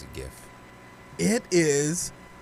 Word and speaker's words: GIF: it could be pronounced jif but i pronounce it gif it is pronounced gif it's basically gift like in present without the t i've heard jiff i've